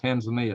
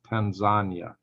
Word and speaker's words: Tanzania: good number and zanya now it's not pronounced Tanzania it's pronounced Tanzania mother locals Tanzania and of course we